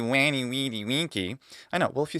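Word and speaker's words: veni vidi vici: Often they've heard it first in that ecclesiastical pronunciation, vany vid vichi. It sounds absolutely cool, just like everything in ecclesiastical pronunciation. And then they go, it's not going to be wy weedy winky.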